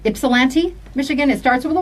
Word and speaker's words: Ypsilanti: I think the Y is silent. Is it Ypsilanti, Michigan?